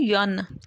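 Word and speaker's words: Jeanne: This is a French name जिसकी pronunciation है यन। यही अगर नेम इंग्लिश में होता तो हम इसको जीन प्रोनाउंस करते, बट सिंस वी नो कि ये जो स्टोरी है ये फ्रांस में सेट है, तो इसकी प्रोनाउंसिएशन होगी यन।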